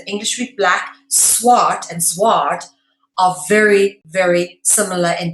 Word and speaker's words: zwaard: In English, a sword is obviously spelled S-W-O-R-D, but in Dutch, it's spelled Z-W-A-A-R-D, okay?